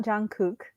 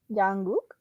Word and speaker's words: Jungkook: It's not Jungkook. Jungkook. Jungkook.